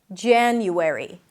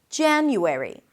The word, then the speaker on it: January: January. January. The president will take office in January.